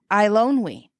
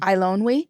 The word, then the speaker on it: Eilonwy: Eilonwy. How is it? What's her name? Eilonwy.